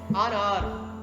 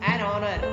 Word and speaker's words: honor: An hair, honor, an honor, an honest. So honest, honor, or these are the words start with the vowel sound.